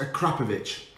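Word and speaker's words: Akrapovič: it gets bitter um acropovic exhaust that's a grand here and let's talk about pronunciation apparently it's it's a krapovic now i like that because it says crap in it so the akrapovic exhaust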